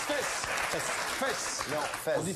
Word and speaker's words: Fès: Fès. Bonne réponse. Oula. Mais on prononce fesse. Fesse. Non, Fès. On dit fesse. On dit Fès.